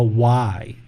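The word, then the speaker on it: ไหว้: So the hands coming together in the prayer position, this is called a Y, W-A-I. That's how I spell it, Y.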